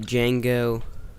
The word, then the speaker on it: Django: It's spelled like DGANGO. Yeah, I got it. DJANGO. The Django. But it's pronounced Django.